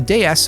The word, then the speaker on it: DS: Now, the DS, a clever play on words that is pronounced the same as the French word for goddess, was the first mass production car to feature hydropneumatic suspension and disc brakes.